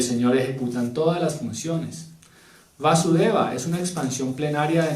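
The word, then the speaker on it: Vāsudeva: ante Devaki y Vasudeva, sino que aquí el Vasudeva que hace referencia a Krishna tiene doble acento en la A, Vasudeva, ¿sí?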